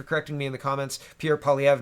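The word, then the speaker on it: Poilievre: Pierre Polyev, not Polyevra. So I apologize. My English reading is showing up.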